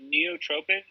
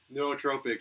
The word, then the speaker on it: nootropic: Neotropic? Nootropic, yeah, enhances your cognitive thought.